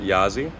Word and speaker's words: Yazi: this space for a while uh that is yza though you can pronounce it totally okay if you can pronounce it a yazzi it is the uh a Chinese word that